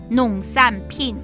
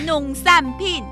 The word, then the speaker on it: 农产品: 农产品。农产品。弄个3瓶来啊！3瓶，6瓶给你都没问题。 3瓶苹果汁，弄3瓶，不是啊？什么？你就知道吃对农产品。对啊，农产品是产品，不是3瓶。听，It sounds like give me 3 bottles, but it actually means agricultural product.